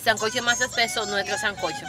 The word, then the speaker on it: sancocho: Entonces, cuando hice mi primer sancocho, salcocho, que es así como se pronuncia en sí, como se escribe salcocho.